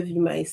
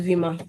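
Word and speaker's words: Weimar: like international students in is it pronounced V or V? My German with E, I, and I, E is always a problem. I, V. Yeah, I think it's Vimma. I think that's the correct pronunciation.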